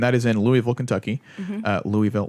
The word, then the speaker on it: Louisville: yes yep and that is in Louisville Kentucky Louisville Louisville Louisville Louisville yeah you pronounce it and then gas is of course